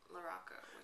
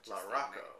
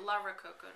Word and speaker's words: LaRocco: I'm good with that or with LaRocco. LaRocco. Okay. LaRococo. Is not so good.